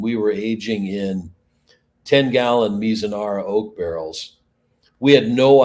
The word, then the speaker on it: Mizunara: So I was gonna ask about what pronunciation, Mizunara. Yeah, Right? Mizunara.